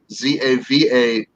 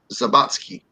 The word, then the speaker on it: Zawadzki: It's spelled the Russian way, but it sounds Polish, but it's not. It's actually Zavatsky, and there's no. If it was Polish, it would be Zabatsky.